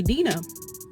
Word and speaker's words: Dinah: to pronounce it like if I choose to pronounce my name Deena that's on me I don't know people